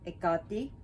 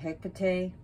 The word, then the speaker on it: Hekate: to be calling her ekati so i know some people call her hectae her caked her cat paquette that's up to you but i'm just saying it's wrong i guarantee if you